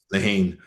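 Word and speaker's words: Lehane: anybody that ever read a novel from Dennis Lehan. It's a Leane sure I should pronounce his name properly.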